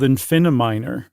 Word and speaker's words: Infiniminer: And he was playing a game called Infiniminer, right? Am I saying that right? Like Infinity Miner, but without the T part?